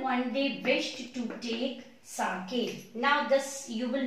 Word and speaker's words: sake: Okay, and his father one day wished to take sake. Now this, you will not pronounce it as sake. The pronunciation of this word is sake.